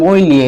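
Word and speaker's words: moglie: তারপরে মইলিয়ে, উচ্চারণ হবে মইলিয়ে, এভাবে আমাদের বলবে।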